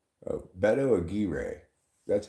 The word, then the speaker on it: Aguirre: It kind of looks like Mark McGuire's name, but without the M. Oh, Aguirre. Aguirre. Aguirre. Aguirre. It's hard to roll it at that spot in the word.